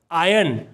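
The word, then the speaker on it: iron: आयन, press करना। Press करना को इंग्लिश में आयन कहते हैं। हम इसे आयरन नहीं पढ़ेंगे, हम इसे पढ़ेंगे आयन। आर साइलेंट रहेगा, आयन।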